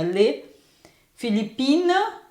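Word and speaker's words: les Philippines: Filipinas então aqui ó o s do le ta natural a gente pronuncia ler Filipina também pronunciamos sem o s mas para escrever a gente põe o s para mostrar que tá natural tá E aqui também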